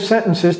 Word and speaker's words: sentences: That is used with not in negative sentences to reduce, et vous voyez comment je prononce sentences. Sentences, le T là.